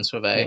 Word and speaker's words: Sauvé: No, I could be wrong, but I'm fairly sure it is Brian Sauvé.